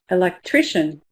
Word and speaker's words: electrician: What color is electrician? Electrician. Silver pin. Electrician.